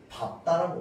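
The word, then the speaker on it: 밟다: 자, 그런데 얘만 어떻게 발음하느냐? 밥다라고 발음합니다.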